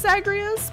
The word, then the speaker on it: Zagreus: Zagreus I think it's I think it's pronounced zagreas but you only watch